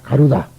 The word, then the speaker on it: 가루다: 그 다음에 가루다. 가루라가 아니라 가루다입니다만은 이 중국말로 이다. 우리는 나라고 발음합니다만 중국 사람은 다라고 발음한다는 걸 알아두십시오.